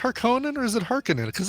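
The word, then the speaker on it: Harkonnen: are saying how was that is it pronounced harkonen or is it harinen cuz I've always been pronouncing it Harkin be amazing no dude it's haran it's yeah you want to piss you want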